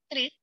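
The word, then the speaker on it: QRIS: ini yang Kris tadi, jadi bacanya jangan QR, tapi bacanya adalah Kris.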